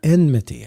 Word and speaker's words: enmity: That was always a hard word for me growing up. I always wanted to say enmity. I don't know. But enmity. Enmity, yeah. Enmity. The extra syllable.